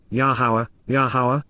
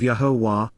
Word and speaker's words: Yahowah: camp by those showing great hostility, and, then, Yahowah, the proper pronunciation of Yahowah, our Eloah, God as directed in his Torah,